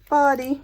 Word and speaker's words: Bodie: Some people think that's pronounced Bodie, but it's Bodie because they said bodies would wash ashore.